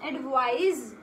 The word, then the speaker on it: advise: Now understand, ADVICE इसका pronunciation है एडवाइस और इसका प्रोनाउंसिएशन है Z से करेंगे हम. एडवाइज, एडवाइज, right.